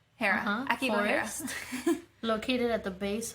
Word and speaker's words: Aokigahara: Oh, let me go back to Aokigahara? my pronunciation. Aokigahara. Aokigahara.